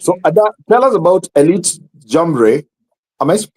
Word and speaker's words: Jamboree: amazing thank you so tell us about Elite jambre am I pronouncing it right now bnny you started again right yes the elites jambur that's correct so what this event is all